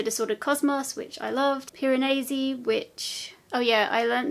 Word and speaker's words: Piranesi: cosmos which i loved piranesi which oh yeah i learned that it's not called piranesi it's called piranesi so i think i've been pronouncing that wrong anyway piranesi which i